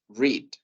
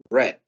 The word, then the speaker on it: read: viene siendo la pronunciación en presente decimos read y en pasado decimos red bridt Entonces por esa razón